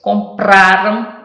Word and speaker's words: compraram: Compraram é o pra que é mais forte. Lembra que comprarão era o rão, agora é compraram, o pra é forte.